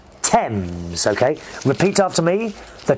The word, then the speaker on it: Thames: river it's not called fames a lot of americans think uh thinks it's called fames it's actually thames you don't pronounce the h thames okay repeat after me